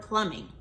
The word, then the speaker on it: plumbing: So you should have written pull, There goes that silent B again. Suffix ing. Pull, ing. That's Plumbing.